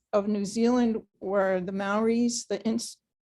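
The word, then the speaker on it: Māori: the maoris the ins english pronunciation is maori but the maoris roll their r's i can't roll my r's so sometimes i say malibu maori but usually i'll say maori because i can't do justice and the marae again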